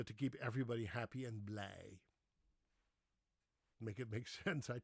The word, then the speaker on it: blij: So when you see B-L-I-J, you say blij.